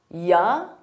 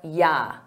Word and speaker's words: you: Notice that the you becomes more of an unstressed ya or ya. So it's a very subtle difference, ya. Native speakers will use both, are ya, are you all set?